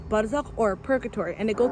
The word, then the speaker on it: Barzakh: I choreographed and co-directed the dance short film Bazarkh, pronounced as Barzakh, with my beautiful partner in crime, Kat Castro.